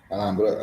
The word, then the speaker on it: Alhambra: But you don't pronounce the H. Alhambra, and it's a 1925 reserve.